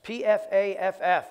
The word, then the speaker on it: Pfaff: We have Jerry and Sue Pfaff. Did I say that right? It's P-F-A-F-F, but it's pronounced Pfaff.